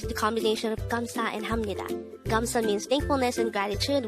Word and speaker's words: 합니다: last three syllables hamnida the third syllable hap is formed from the combination of the a and b sound even though it has a v of sound at its ending it is pronounced as ham since it is followed by a neon character on the syllable knee